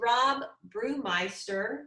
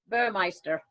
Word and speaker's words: Burmeister: in this picture is rob brewmeister did i pronounce that right burmeister oh c sorry that's okay he's from